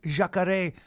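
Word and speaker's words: Jacaré: with the exception of jakare consider to be the uh yeah that's how you say it which is crocodile but considered to be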